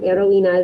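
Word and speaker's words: heroína: one to pronounce repeat remember that h is silent heroina is a heroine so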